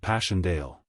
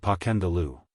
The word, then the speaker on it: Passchendaele: Marchant, it was so strange to hear you call it Passchendaele." "Why, if I may ask?" "Because that's the way I pronounce it to myself. But I looked it up and it's more like Passchendaele."